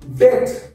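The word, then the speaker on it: debt: কি বলবো থাম থাম ডি ই বিডি ডেট ডেট কেউ ডেপথ বলবে না ডেপথ বলবো না কি বলবো ডেট ডেট কি বলবো ডেট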